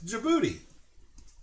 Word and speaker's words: Djibouti: It's Djibouti.